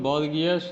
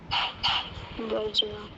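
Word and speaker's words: bourgeois: ये वर्ड को हम लोग बॉर्गियस या ऐसा कुछ नहीं पढ़ते हैं, इसको पढ़ते हैं, जो ध्यान दीजिएगा, ये हमने क्या लिखा, पढ़िए। बर्जुआ। हाँ, द वर्ड इज बर्जुआ, हल्का वाला ज बर्जुआ।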